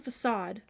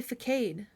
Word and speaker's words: facade: facade it's correct correctly it's a facade but I say fade every time I I see it it's a fade but it's facade and I struggle with knowing it's right and actually saying it right it's from a gift